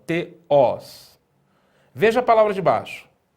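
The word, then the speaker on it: θεός: E no caso da palavra oxítona, é na última sílaba, né? Então nós temos, né, a primeira sílaba aqui, ó. Te, e a segunda sílaba, os. E o acento na última sílaba, teós.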